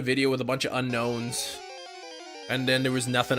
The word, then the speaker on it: Unown: good book say it's pronounced unknown just like I've been saying unknown is how you pronounce